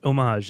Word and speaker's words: homage: know some possibly paying homage homage Oh help us out here it is homage if you're staying with the French pronunciation and that has been